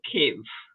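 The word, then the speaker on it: Kyiv: way they say it i think that is ukrainian pronunciation but when i was there we call it kiev now they call cave kind of yeah well i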